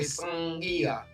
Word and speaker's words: Sangi: The cuneiform sign Nga is pronounced like it's sing. So we say Sangia.